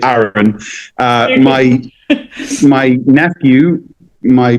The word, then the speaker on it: Aaron: the world, a lot of people would say Aharon or Aaron. Mhm. But living in Ireland and also growing up in the northeast of England, anybody who would pronounce my names would tend to say Aaron.